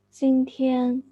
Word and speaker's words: 今天: Yeah, with no hesitation between the syllables. 今天, as if it is just one word, as if you are saying the multi-syllabic English words: mountain, geography, anthropology, and so on. You never utter this word syllable by syllable. You say them in one go as fluently as possible.